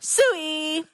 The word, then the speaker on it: Sooie: to note is that Daniel you were saying it's soo but the stress is more on the first syllable when my students say it. It's more suie.